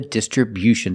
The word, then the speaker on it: distribution: Distribution with a stress on the first and third syllable.